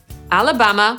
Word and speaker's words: Alabama: Więc A jak Alabama /æləˈbæmə/, Alaska /əˈlæskə/, Arizona /erɪˈzoʊnə/ i ten pierwszy kłopotliwy – Arkansas /ˈɑːrkənsɑː/.